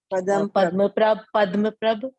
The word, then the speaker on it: पद्मप्रभ: सर इसमें ऐसे 3 तीर्थंकर के नाम है जो जनरली लोग गलत प्रोनाउंसिएशन उसका करते हैं, जैसे एक अपने हैं पद्मप्रभ, एक है चंद्रप्रभ, और एक है अरनाथ।